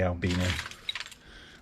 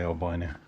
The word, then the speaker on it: albino: We say albino. I know you Americans say albino.